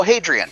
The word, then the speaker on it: Hadrian: on his face and i just realized there's no g in that name am i pronouncing that correctly like adrian's wall oh hadrian okay i'll try to remember yeah it's wrong it's the latin name t caption team one